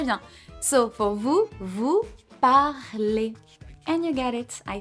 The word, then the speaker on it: parlez: We keep this base, this root here, P-A-R-L, and we add the specific ending for vous, that is, yep, easy, perfect, that we pronounce et. Ok, excellent, très bien. So for vous, vous parlez.